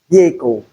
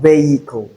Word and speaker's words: vehicle: Another word I can add to this is vehicle. Vehicle. It is not vehicle because the sound is not there in the transcription.